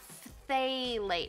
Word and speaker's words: phthalates: Phthalates. But remember, this is silent.